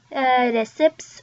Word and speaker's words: recipe: Normally when an E sound is on the end, we don't pronounce it. But in this case, we do.